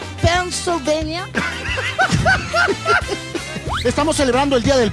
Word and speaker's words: Pennsylvania: desde Nueva yorkers New jerse pv no es pennsyvania ojo la verdadera pronunciación no es pennsyvania así se pronuncia correctamente por favor pania Oh Again Again Pennsylvania Pennsylvania Estamos celebrando el Día del Padre qué estás